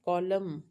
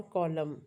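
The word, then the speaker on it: column: बन गया है ना कॉलम हम कॉलम तो एन का साउंड सुनाई नहीं देता।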